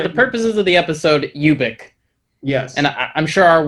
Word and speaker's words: Ubik: yes he was totally fine with it being ubek uvic but i think he did call it